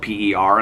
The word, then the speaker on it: Per: Days, was written by, I thought his name was Per Jacobson, but then I watched that show, The Breakthrough, on Netflix, and the genealogist's name was spelled P-E-R in there, but they pronounced it Per, so it must be Per Jacobson.